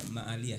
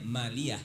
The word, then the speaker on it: maliyah: Nah itulah keliru karena memang bacanya ma'aliyah, sebenarnya maliyah kan. Persiapan maliyah. Jadi bukan ma'aliyah kan.